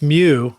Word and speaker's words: Mew: And he says, I would like to know if he had any interesting cultural differences when working with Mew. Am I pronouncing that right?